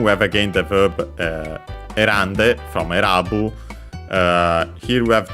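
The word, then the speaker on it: 選んで: And so yeah, actually the n stayed, and then it caused the voicing of the te also, so again, because de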